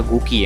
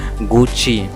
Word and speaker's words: Gucci: हैं क्या, गुकी है, लेकिन ये गुकी नहीं, इट इज़ रॉन्ग प्रोनाउंसिएशन। गुकी क्या है आपका? Wrong pronunciation. इसका करेक्ट प्रोनाउंसिएशन आपका गुची। क्या? गुची। एक बार और इसे प्रोनाउंस कीजिए, गुची, गुची। तो इसका करेक्ट प्रोनाउंसिएशन क्या है? गुची, नॉट गुकी।